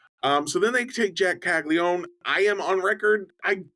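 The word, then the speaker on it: Caglianone: Florida slugger Jack Jeremy, say it correctly, Caglione, Caglione. Caglione, When Jack Caglione Caglione.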